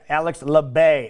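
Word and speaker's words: Alex Labbé: a hard time mentioning of this dude's name Alex lebay that's the guy Alex lebay that's how you say his name finished in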